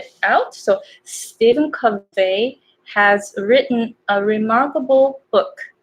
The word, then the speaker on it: Covey: Covey. So names are difficult. So I had, I checked the dictionary of pronunciation to check this vowel right here. So this is the schwa. It's So Covey. Covey.